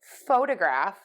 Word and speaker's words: photograph: so we have photo photograph photographer photography and photographic so one more time photo photograph photographer photography photographic so most of the time in English we prefer stress to be on syllable one in a word and